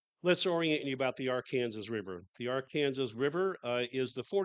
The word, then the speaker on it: Arkansas: And I call it the Arkansas River because I think that's the correct name. And it's only pronounced that way generally in Kansas, however. It's mostly pronounced the Arkansas River. And in fact, by state legislative mandate in Arkansas, that's how you're supposed to pronounce it.